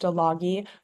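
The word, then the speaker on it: Стиляги: So, Hipsters, or in Russian, it's pronounced Stologi, was released in 2008 and directed by Valery Todorovsky.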